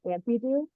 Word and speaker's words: Ampydoo: Um, and he creates his comics under the pseudonym Ampydoo. Am I pronouncing that right?